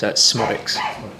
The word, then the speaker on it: Szmodics: pronounce schod uh yeah so the Zed's basically uh silent soic yeah simple as that yeah and welcome thank